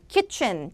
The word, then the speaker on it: kitchen: 근데 kitchen 짧게 해야 돼요. kitchen 이래야 대부분 들어본 kitchen 아니라 kitchen. 춘 뒤에가 춘데레 할 때처럼 kitchen.